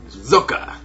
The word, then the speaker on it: Socke: Listen to Caldor play it or say it on YouTube and say it one more time. Zocke. Alright, good. Caldor is a German man, and Zocke is a German player, so I felt like Caldor would be the best person to rely on for the correct pronunciation of this player's name.